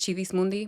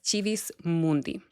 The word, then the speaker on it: Civis Mundi: I use the ecclesiastical pronunciation of Civis Mundi, by the way, um, just in case you're wondering uh, why it's pronounced that way. But, it is Civis Mundi.